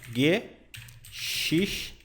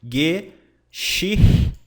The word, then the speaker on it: Geschichten: Isso aqui é a pronúncia. Geschichten. Mais ou menos assim, tá? Usando o nosso guia brasileirado. Geschichten. Geschichten. Vou colocar esse CH aqui, ele é mais suavizado, tá?